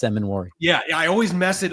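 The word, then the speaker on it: Emmanwori: Listen, trying to add an extra syllable there. Yeah, it's Emmanuel.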